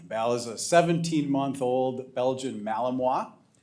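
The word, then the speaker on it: Malinois: Bal is a 17-month-old Belgian Malamoa. I say Malamoa with pride because it's taken me about a month to be able to pronounce that right.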